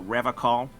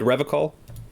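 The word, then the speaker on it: Revachol: He pronounces Revocol with a hard K, unlike other people. You said Revocol? I like to pronounce it the hard way. The old way. The Vespertine way.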